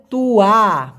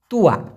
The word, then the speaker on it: tua: ওটাকে আবার বলা হয় তুয়া, TUA, উচ্চারণটা হবে তুয়া, তুয়া।